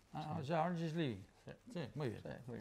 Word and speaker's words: Adam Gislevy: ¿Cómo se pronuncia? ¿Has dicho? Adam Giles Levy. Adam Giles Levy. Ah, Adam Giles Levy.